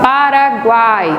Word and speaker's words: Paraguai: Paraguai. Quase não se percebe o U de tão fraco que ele é.